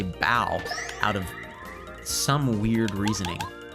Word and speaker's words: Bow: the time i say bo half the time i say boo uh but i think it should be bo and then some of the time i just say bow out of some weird